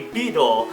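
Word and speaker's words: ビードル: pretty similar in Japanese it's actually going to be beedle and this is going to be a combination of the word be plus the word needle both of those are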